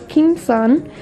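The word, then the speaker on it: 겸손: this says be humble and Korean you pronounce it as king son this is something my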